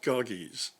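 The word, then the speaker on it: Gyges: in Greek he's called kagis g-y-g-e-s well that Y is pronounced like a u so it should be pronounced goggies and that yes on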